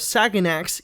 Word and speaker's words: Saganax: Hey, before I start the video, I wanted to mention that a YouTuber by the name of Saganax, yes, that's actually how you pronounce his name, made a video about Yo Mama months prior to this.